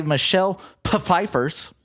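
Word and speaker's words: Michelle Pfeiffer: the throne and an evil witch played by Michelle peifers that's that is actually how you pronounce her name once to you use her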